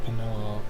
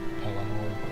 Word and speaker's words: Pelennor: Well, not the Penelor. Fuck. What is it? How do you say this? Pelennor. Let me search it up. Pelennor Fields. Yeah, that's what it's called.